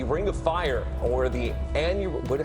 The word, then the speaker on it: annular: It's the Ring of Fire, or the annular, how do you say this?